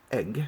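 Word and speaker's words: ag: mostly tall sentences with egg it's pronounced egg even though it's not written that way and it's at and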